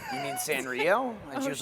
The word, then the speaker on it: Sanrio: the characters from Sario. I'm like, you mean Sanrio?